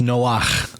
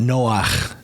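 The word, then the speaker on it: נֹחַ: The male version is actually pronounced Noach with that guttural chet kind of sound, or I think it's a het, but it's got that guttural at the end of it, Noach, rather than Noah.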